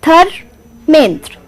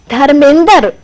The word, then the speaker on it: Dharmendra: It is a two-syllable word. Dharmendra. Dhar-a-mendra. A. Two-syllable word. But sometimes if you go to my place, then my mother will say Dharmender. And it's got three.